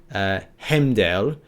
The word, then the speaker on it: Heimdall: an old Scandinavian to say Heimdall is a hemdale but obviously i but more kind of like scandinavian accent on it but yeah they're